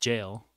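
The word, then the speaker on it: gaol: Jail, which I know is spelt like G-A-O-L, but it's pronounced Jail.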